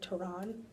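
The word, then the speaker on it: Taran: I thought that the main character, Tehran, she told me that's how it's pronounced.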